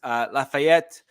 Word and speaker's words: Lafayette: Lafayette, yes, I did pronounce that with a French accent. That's ETTE, which is typically French, so just deal with it.